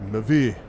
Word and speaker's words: MEV: No, it's actually pronounced Mavi.